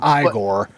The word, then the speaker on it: Igor: Victor Von fren Ste Frankenstein fren no it's pronounced igore I be normal should shouldn't it be frodi